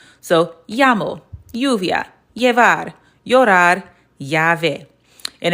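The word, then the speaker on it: llamo: That's the name of that letter and it's going to make the y sound.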